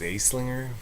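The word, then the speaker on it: Anslinger: Then in 1930, Henry Aslinger, that's pronounced Aslinger.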